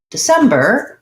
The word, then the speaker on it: December: was showing you how in the word december we have second syllable stress and the idea there is that even though we have the letter e in the first syllable of december it's short and unstressed and the stress comes on sem so i might want to rewrite that letter e as an i sound di di because it has